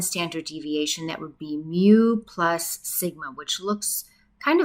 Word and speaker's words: mu: a u shape uh the way I'm pronouncing this Greek letter it's mu m u and it